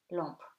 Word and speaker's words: lampe: M before a consonant and at the end of the word becomes nasal. It's kind of, as I've always told you, it's kind of eaten, right? So becomes nom, second name, timbre, timbre, stamp, and lampe, lamp. Double M, when it's double,